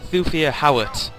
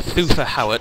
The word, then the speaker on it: Thufir Hawat: The main reason being I mentioned those is, in the books, Thufir Hawat, or Thufir Hawat, depending on how you want to pronounce it, is the mentat to